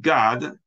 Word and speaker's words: Gad: the tribes Reuben and God that's not God up in heaven it's like you could pronounce a Gad if you want but anyway two of